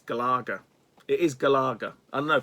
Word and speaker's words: Galaga: and you put in galaga gallagher it's they say galaga it's galaga gal laga there's no galar there's no gallagher it's galaga anyway here's galaga gallagher